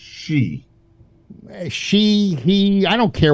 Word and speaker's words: Xi: Yeah, I believe it's pronounced she.